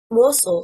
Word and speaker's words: morsel: Morsel, stressing on the first syllable, means mouthful.